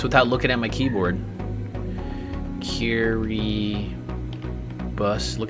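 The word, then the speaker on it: Kiribati: Kiri bus. Look how weird this is. This is pronounced Kiribus and there's an I to finish this.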